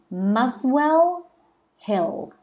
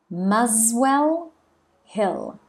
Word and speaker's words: Muswell Hill: crescent and that's in muswell hill muswell hill so remember the s actually we pronounce it like a z muswell the tube or the